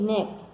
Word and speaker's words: knee: नी की स्पेलिंग में हमेशा जो के है वह साइलेंट रहता है, इसलिए इसे नी बोला जाता है।